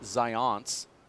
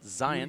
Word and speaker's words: Zions: Not Zions, as you say, but Zions, just like the word science, the official sports drink of the UFC.